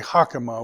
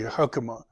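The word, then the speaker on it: חָכְמָה: class comet's hatu but it looks exactly like comets but it's not yeah we don't say hakuma we say hukama yeah and we're just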